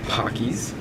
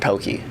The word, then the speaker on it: Pocky: nice and that's some pockys it's actually pronounced pokey I found out this